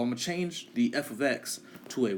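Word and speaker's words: f(x): And it's pronounced this f, you see f parenthesis x close parenthesis, this is pronounced, come on now, this is f of x. That's all you say, f of x.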